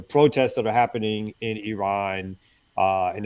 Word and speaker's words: Iran: You support the Iranian people, but you're pronouncing our country's name wrong. Our country is named Iran.